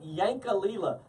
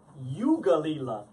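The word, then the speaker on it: Yankalilla: That's what it looks like, Yankalila. But it's pronounced Yugalila. I don't know why, it's an Australian thing.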